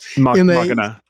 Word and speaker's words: machina: In the past I've been trying Machina or Mckina. I'm trying to think how you pronounce it. It's machina be machina. Yeah, which is like Latin for machine, but it's it's um popularized in the day of sex machina term.